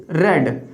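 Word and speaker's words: read: अब क्या है, क्रिया क्या हो रही है, किताब पढ़ने की, रेड। देखिए स्पेलिंग सेम होती है रीड की, बट इसकी जो प्रोनाउंसिएशन होती है रीड, रेड, रेड।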